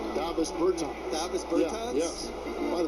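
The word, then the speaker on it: Dāvis Bertāns: Oh, now, at this point in my life, it's Davos Bertans. Is that how you say his name? Davis Bertans.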